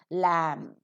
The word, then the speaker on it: lamb: If they occur in the same syllable, m and b occurring in the same syllable, b is not pronounced, as you could find in lamb.